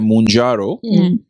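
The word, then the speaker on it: Mounjaro: जिसका नाम है मंजारो आई थिंक ऐसे प्रोनाउंस करते हैं मंजारो यह आने वाली है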